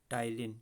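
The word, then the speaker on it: ptyalin: यहाँ पे salivary amylase का एक और नाम होता है टाइलिन, याद रखिएगा। पी साइलेंट है, पी होता है आगे, फिर उसका टाइलिन लिखा जाता है।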